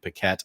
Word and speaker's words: Paquette: I've always pronounced it in my head as Yannick Paquette. I'm sorry if that's actually not the correct pronunciation. I think it's Yannick, but Paquette is right.